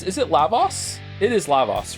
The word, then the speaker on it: Lavos: to like like um fix my Chrono Trigger pronunciations is it Lavos it is Lavos right and is it Marl or Marley for